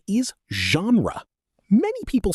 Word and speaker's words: genre: The correct pronunciation is genre. Many people say gen-ree, but that's incorrect. The word comes from French, which is why it has an unusual pronunciation.